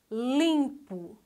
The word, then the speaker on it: limpo: Segunda palavra, limpo. Limpo. A sílaba tônica é lim. Então, a sua classificação é paroxítona.